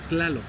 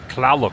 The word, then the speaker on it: Tlaloc: And how do you pronounce his name? Tlaloc. Tlaloc.